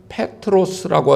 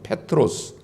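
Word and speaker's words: Πέτρος: 그 베드로를 원문으로 헬라어로 제가 발음을 해서 말씀을 드리면 페트로스라고 합니다. 페트로스.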